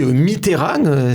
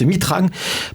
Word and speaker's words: Mitterrand: dit il demande de lui de dire mitterrand s'il le dit me tehran c'est qu'il est de gauche si le prononce mitran pas de doute il est de droite de la même façon